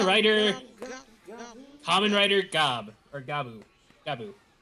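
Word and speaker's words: Gavv: common writer gab or gabo gaboo it's spelled with two v's so you want to say gav but it's pronounced like gab not gab V or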